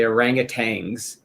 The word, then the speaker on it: orangutan: If Gutsick Gibbon Erica taught me that if you ever hear a creationist or anybody say the word orangutan and they pronounce it with a G at the end, that means they don't know what the fuck they're talking about.